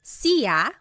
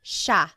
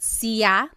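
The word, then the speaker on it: siya: It looks like it should be pronounced sa, but it's actually pronounced sha sha. There are some regions in the Philippines that might pronounce it sa but for the most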